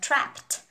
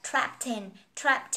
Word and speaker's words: trapped: Mình đọc là trapped, đúng không? Và tờ, cái ED ở đây được đọc là âm t, t, t, âm tờ đó. So mình nói vô mình đọc là trapped in the past.